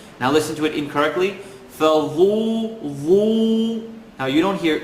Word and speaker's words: فَذُوقُوا: Dhal is never heavy. So, فَذُو, فَذُو. It's a tip of the tongue, edge of the top teeth. Let me say it right, and then you can hear it not so right. فَذُوقُونَ. Fadhu, dhu, dhu. You hear the oo sound, not the oo.